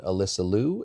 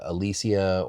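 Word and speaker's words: Alysa Liu: I think I might have said Alysia or even like Alicia, but we just want to correct. And it is Alyssa Lou.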